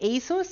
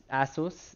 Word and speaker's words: ASUS: two years ago nah is it asus or asus and actually they explained that their name comes from pegasus the you know from greek mythology the winged horse so pegasus asus i guess asus would be the closest to pegasus uh how much on